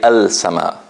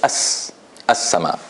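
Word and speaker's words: السماء: So I don't say al-sama. I don't say al-sama. I say as-sama.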